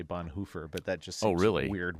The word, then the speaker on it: Bonhoeffer: I suppose if you want to pronounce his name correctly, you're supposed to say Bonhoeffer, but that just seems weird whenever I say that, because I don't speak German.